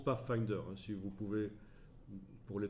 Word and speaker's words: Pathfinder: de fenêtres pas facteur ça se prononce pas finder si vous pouvez pour